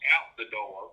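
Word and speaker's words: Outadore: training a horse named out to door and it's pronounced out the door okay and uh he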